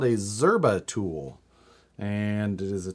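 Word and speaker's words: Szczerba: called this is the it's called a zerba tool and it's spelled get ready write this down get your phone out get the text started s z c z e r b a zerba tool and this is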